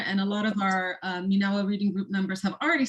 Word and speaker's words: MENAWA: And that's how you pronounce it. The whole time I'm like, is it MENAWA? So it's MENAWA.